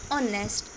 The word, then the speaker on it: honest: of the word is honest and here H is silent and the first pronounce is O and as we know